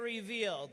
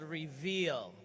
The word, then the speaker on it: RVL: product line right there RVL we say it revealed the new advanced haircare system from Jeunesse is called reveal so we say it reveal we spell it our V L you can